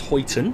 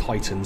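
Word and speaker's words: Huyton: a spell h-u-y-t-o-n um i read it more as hoyten but i thought it might catch me out and when i googled it and looked it up apparently it's pronounced heightened so hopefully google was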